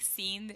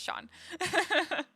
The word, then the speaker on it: Sean: see that okay cool it's Shawn like Sean Connery FYI okay cool you know I think that's like the the correct way to say anyway I think scene is weird so I'm glad it's Sean I can't sit I